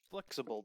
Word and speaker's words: Flxible: And now we're getting to kind of the largest thing that was at the show, an old flexible bus. And that is spelled FLXIBLE.